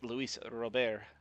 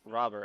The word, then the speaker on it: Luis Robert: And so it's Luis Robert, or Robert, I think is. It's also an acceptable way to pronounce it.